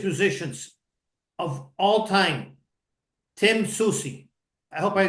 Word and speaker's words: Soucy: of the greatest musicians of all time Tim Susi I hope I pronounced it right you did great Tim Susi